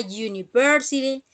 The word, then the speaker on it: university: Pero la excepción a esta regla ocurre cuando la vocal u, si la u tiene un sonido consonántico, es decir, ya, de yo, debe usarse la forma a.